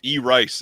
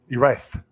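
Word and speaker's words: Erice: Silent Mandible says, I believe it's pronounced E-Rice, as in electronic rice. E-Rice.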